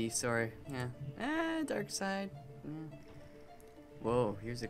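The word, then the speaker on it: Darkseid: wait is that doomsday I think it's dark side no not dark seed dark seed it's dark side side okay am I let me let me do I mean I know how it's spelled it's like s d but I'm pretty sure it's just dark side there also a German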